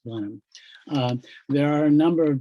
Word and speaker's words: Blenheim: The California growers call it Blenheim, but it's English, so it's pronounced Blenheim.